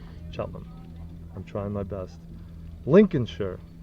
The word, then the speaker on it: Cheltenham: Cheltenham. Cheltenham. There you go. 2 syllables. Cheltenham.